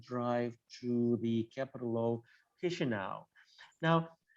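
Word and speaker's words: Chișinău: And when you see something written in Moldovan, just you need to pronounce it as it is pronounced in Italian, for example, if you are familiar with Italian at all, Chisinau, so this is pronounced.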